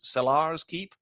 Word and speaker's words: Kellar's Keep: time, but we had Kellar's Keep, who somebody said that the app pronounces Cellar's Keep. But I said Kellar's Keep.